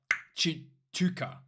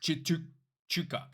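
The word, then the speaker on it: Tshituka: It's apparently Vincent Chuka. Wait, It's it's like Chituka. Yeah. Okay, something like that, right? Vincent Chituka.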